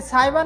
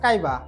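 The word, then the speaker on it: cyber: যেমন সি ওয়াই বি ই আর, এটা সাইবার না কাইবা? তো সি এর পরে ওয়াই থাকলে সি কি হবে? স, দন্তীয় স্বর মতো উচ্চারণ হবে।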